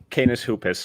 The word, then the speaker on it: Canis Hoopus: I always butcher the T-Wolves site. Can you give us that, Tyler? Yeah, it's Canis Hoopus over at SBN.